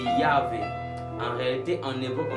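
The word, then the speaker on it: Yahweh: cours de l'hébreu biblique ne prononcez pas le mot Jéhovah car ça n'a pas de sens dans la Bible. Je parle de Yahé.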